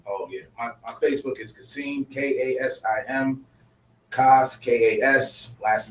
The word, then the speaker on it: Kasim: My Facebook is Kasim, K-A-S-I-M, Kas, K-A-S, last name.